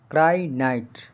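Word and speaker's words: crinite: क्रानाइट क्र क्राइट क्रानाइट यहां पे आई का उच्चारण आई हो रहा है क्राई नाइट केश युक्त बालों वाला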